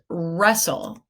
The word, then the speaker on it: wrestle: The first one is wrestle, and I'm sure you guessed it's spelled with a silent W, W-R-E-S-T-L-E.